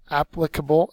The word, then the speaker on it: applicable: word is applicable Abaco applicable is an adjective first syllable is accented it means capable of